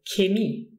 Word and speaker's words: Chemie: say H, like in chemie. But some people actually pronounce it in the beginning of the word with a K, and they say chemie. Chemie. Chemie. Depending on the person or the region.